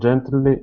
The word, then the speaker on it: gently: air and messes as gently as she can. Okay, very nice. All right, let's go to this word here. and adding in a a vowel sound there saying gently. It's gently. Gently.